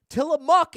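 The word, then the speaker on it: Tillamook: Tie a muk is the correct pronunciation.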